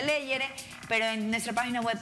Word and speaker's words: Legere: Se pronuncia Leyere.